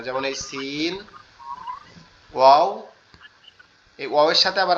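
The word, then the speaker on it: و: আচ্ছা, ওয়াওটা হচ্ছে আমাদের দুই ঠোঁটটা গোল হবে, এরকম একটু গোল মতো হয়ে ওয়াও এভাবে থাকবে, ঠিক আছে? ওয়াও এভাবে উচ্চারণ হবে।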